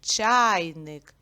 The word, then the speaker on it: чайник: склади і поставимо наголос наголос падає на перший звук а голосний чайник і ділиться це слово